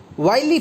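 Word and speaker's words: wily: द विली फॉक्स, विली का मतलब होता है चतुर, सॉरी विली नहीं, वाइली फॉक्स, द वाइली फॉक्स, वाइली प्रोनाउंस करेंगे इसको, द वाइली फॉक्स, वाइली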